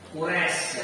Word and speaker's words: Quraisy: Nah, di sini pengucapan Quraisy ini sudah ro lentur layin Quraisy. Nah, ini cara pengucapannya.